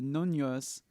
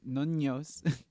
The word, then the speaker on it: Noños: But I go to the Noños, and that's how you say it, because it has 2 N's. So it's Noños.